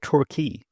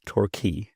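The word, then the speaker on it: Torquay: me where were you born a place called turkey what yeah where's a place called turkey in England yes tury so it's spelled t o r q a y and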